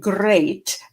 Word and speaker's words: great: Watch out for meat and great and threat. They rhyme with sweet and straight and debt.